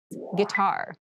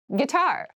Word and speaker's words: guitar: casual clothing casual clothing guitar guitar guar this word has kind of an interesting spelling it starts with GUI but we pronounce this as G so a guitar is